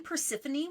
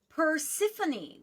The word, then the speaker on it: Persephone: Because I would look at the word and I read it as the letters are. Persephone. Like, that's Yes. not Yeah. spelled like Persephone.